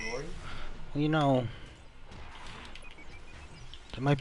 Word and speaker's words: Lore: It's pronounced Lori.